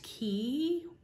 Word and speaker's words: Quay: quay sunglasses which um as somebody pointed out that it's actually pronounced key but i am american and i'm just going to say koi so yeah yeah that's